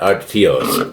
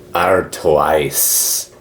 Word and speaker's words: Artois: How do you pronounce? Artios. Not Artios. Artos. No, it's Mentos. Artois.